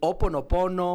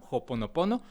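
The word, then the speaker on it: Ho'oponopono: Este, podemos utilizar la H muda, este, el oponopono. O hay algunos que le ponen como un tipo J al principio, joponopono. Ambas, este, son son correctas.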